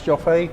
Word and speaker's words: Joffe: Hi there, we're with Daniel's Joffe. Joffe? Hey, Joffe. Joffe. No, it's Joffe. We have this letter in our country which is pronounced Yo. Joffe.